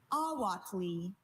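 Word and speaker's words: ahuautle: Awatli. May I have the definition? Awatli means water insect eggs dried and used as food in Mexico. Awatli. Can I have all the information? Awatli is the only pronunciation.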